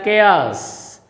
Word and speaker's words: chaos: It is chaos, children, it is pronounced as chaos.